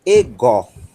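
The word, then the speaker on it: ἐγώ: Ego. Ego. Sílaba tônica é a que está marcada com o acento. É essa daqui, ó. Essa é a sílaba tônica.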